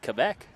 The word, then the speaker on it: Quebec: Some of whom would pronounce it Quebec.